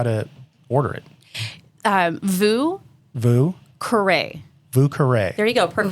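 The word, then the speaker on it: Vieux Carré: Vue Carré.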